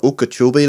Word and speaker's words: Okeechobee: No, Okeechobee, lad, it's called. Do you want to spell that for me?